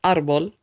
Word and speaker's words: árbol: We see that árbol ends with an L, which is not a vowel, and it isn't an N or an S. Therefore, there must be an accent mark, because otherwise the last syllable would be emphasized, árbol instead of árbol.